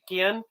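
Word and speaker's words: Guillén: How would you say Guillen.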